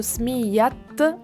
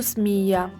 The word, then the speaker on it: smiyat: Quando io pronuncio il termine smia, vedo che questa parola termina con la lettera A. Ma se io dico smiyat khti, quindi il nome di mia sorella, vediamo che pronuncio smiyat e non più smia. È infatti un errore non pronunciare la lettera T in una parola che finisce per ta marbuta quando questa si trova all'interno di uno stato costrutto.